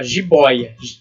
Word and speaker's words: jiboia: Agora ali, ó, jiboia. Vamos fazer a silabação. Jiboia. Mesmo caso ali de ideia, só que aí temos o ditongo aberto oi. A boca aberta, oi.